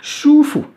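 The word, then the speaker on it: 舒服: vu plein de toi shufu chouffot à ça c'est moche ou shq ça se prononce comme un ch en français et 1 us comme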